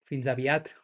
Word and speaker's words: fins aviat: fins aviat.